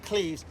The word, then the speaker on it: Cleves: But he mispronounced it, Anne of Cleves, and no one argued.